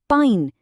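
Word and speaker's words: pine: पर जैसे ही आखिर में एक ई जुड़ता है ये बन जाता है पाइन, और आई की साउंड जादू की तरह आई में बदल जाती है।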